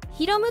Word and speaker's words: 弘: で生まれました本名はひろむと読むそうで相性はワンちゃん